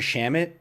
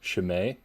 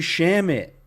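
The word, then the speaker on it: Shamet: landry shamit they were they were pronouncing it probably it was no it was worse it was worse chamele there's i was shamed or i don't know something crazy and i was just like it's landry shamit it's so easy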